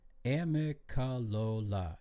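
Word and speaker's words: Amicalola: do you spell amaloa amola a m i c a l o l a h okay amola ah ah ah mola wrong emphasis on the wrong salable ah a amola I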